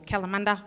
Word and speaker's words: Kalamunda: which is connected to a place called calamari here in Perth or kalamunda as the locals say it um is it is